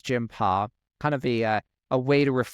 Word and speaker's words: Jimpa: starts and explains that it's not jimpa like I was thinking it was Jima kind of a a